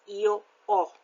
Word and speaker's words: ho: You notice that the H is not pronounced, so it's io ho.